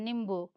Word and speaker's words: नींबू: लेकिन जब आधा होता है तो उसमें अ का उच्चारण नहीं आना चाहिए, इसीलिए हम लोग उसको जल्दी से बोलते हैं, उसका प्रोनाउंस जल्दी करते हैं। नींबू, नींबू, है ना।